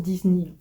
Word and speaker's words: Disney: Voilà, ça se prononce Disney, du coup, forcément en anglais.